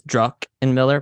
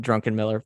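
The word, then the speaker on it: Druckenmiller: is Stan drunken Miller I always pronounce it it's druck and Miller but I always my I don't know whatever however I talk I call it drunken Miller by accident Nvidia is his second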